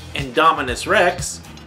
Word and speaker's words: Indominus Rex: Actually, it's pronounced Indominus Rex and Ankylosaurus.